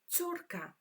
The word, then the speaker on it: córka: The word daughter in Polish is córka. This one is quite tricky to pronounce. Córka.